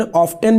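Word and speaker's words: often: एंड ऑफन का मतलब होता है अक्सर, इसको दो प्रोनाउंसिएशन, ऑफ्टन भी पढ़ते हैं, ऑफन भी पढ़ते हैं।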